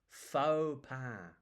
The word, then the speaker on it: faux: Looks like forks pass, but we don't say it like that. Phau.